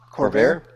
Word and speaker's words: Corvair: Corvair? Corvair, yeah.